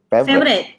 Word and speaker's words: Favoriot: Is that how Favorite. You pronounce it? Favorite.